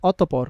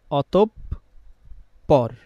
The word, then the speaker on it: অতঃপর: কি বলি আমরা অতঃপর এখন আজকে থেকে আমরা অতপর বলবো না কারণ আমরা দেখেছি শব্দের মাঝখানে বিসর্গটা কোথায় শব্দের মাঝখানে তো আমরা জানি মাঝখানে যদি থাকে তার পরের ধ্বনি যে আছে সে কয়বার উচ্চারণ হবে? দুইবার। তাহলে এখানে বিসর্গের পরের ধ্বনি হচ্ছে প। পটা কয়বার উচ্চারণ হবে? দুইবার। তাহলে যখন এর উচ্চারণ লিখবো আমরা তখন আমরা লিখবো অতপর পর।